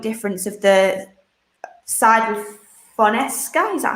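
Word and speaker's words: Fonseca: Tottenham are not intention to cover the economic difference of the side with Fonesca.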